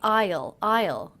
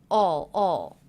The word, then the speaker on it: I'll: I didn't say I'll. I said all. So it sounded a lot like this word. In fact, it sounded just like this word, all. I used the aw as in law vowel. Sometimes I'll ride. So I reduced the contraction, which is already a reduction of I will, to all.